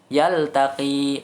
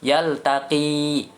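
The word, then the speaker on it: يلتقي: Yang pertama adalah yaltaqi. Panjangkan. Nah, di situ ada huruf ya di belakang ya.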